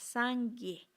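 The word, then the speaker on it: སངས་རྒྱས: Buda, ese ser iluminado, en tibetano se llama Sangye. En sánscrito es Buda. Ujú. Os voy a hablar en tibetano, son 2 sílabas, Sangye.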